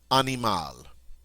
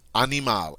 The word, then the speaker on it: animal: Animal. Just like the English word, except it's pronounced French. Animal, animal.